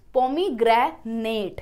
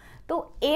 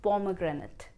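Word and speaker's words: pomegranate: And this is a fruit's name And we mispronounce this word as Pomi-gra-nate it's not Pomi-gra-nate, If a word in the English language ends with ATE So instead of saying ate, we'll say it. Pomi-gra-nuht is the correct pronunciation.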